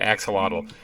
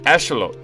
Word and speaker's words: axolotl: Everyone I see is pronouncing it axolotl. That's actually Aztec, okay? It's asholot. Or no, asholot. That's it. That's asholot. That's actually how it's pronounced.